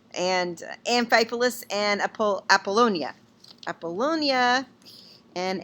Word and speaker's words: Amphipolis: I'm sure the PH is a F. And Amphipolis and Apollonia. Apollonia and Amphipolis.